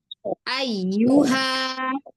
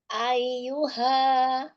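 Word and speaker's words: أيها: U ayyuha. Ayuha. Iya, gitu. Ya, jangan disaret ayuha. Enggak, enggak boleh. Ayyuha harus gitu bacanya.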